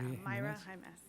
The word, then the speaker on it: Maura Jaimes: Forgive me, I mispronounced your last name before. Mara Jaimes? Yeah, Myra Jaimes.